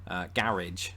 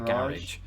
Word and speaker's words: garage: Garage. I'm going to park the car in the garage. Americans do what Southerners in England do with the word bath. Bath. They extend the A.